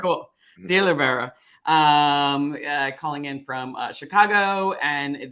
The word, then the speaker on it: DeOliveira: How am I pronouncing that correctly? Yes. DeOliveira. All right, cool. DeOliveira.